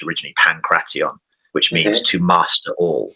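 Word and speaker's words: pankration: pancre to some degree uh they call it pancre sometimes in in in the West but um it's actually pronounced originally pantion which means to master all like pan is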